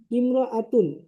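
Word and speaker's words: امرأة: আসবে আমি আবার বলছি ইমরতুন ইমরাতুন শব্দের আগে অন্য শব্দ হলে আলিফটি শুধু লেখায় আসে উচ্চারণে আসে না।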